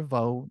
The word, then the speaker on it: au: last video, I said when you pronounce this word, do not add the okina. Okay, there is no okina, as you can see. It's just the letter a and u. So au, au. If you cannot say au without making the okina, you can use the V sound, vo.